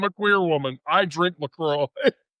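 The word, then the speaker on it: LaCroix: Everybody pronounce pronounce that word. What is that word? Laqua. Laqua. No, it's lacroy.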